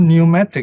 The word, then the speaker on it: pneumatic: knowledge knowledge no and there's another word called pneumatic you remember pneumatic tires that means the air is putting the tires but the p is silent i was when i was a kid i wonder why in english you have this silent p cylinder g now later